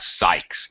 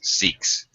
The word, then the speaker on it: Sikhs: It's more of an E sound instead of. It's not like a Sykes. It's Sikhs.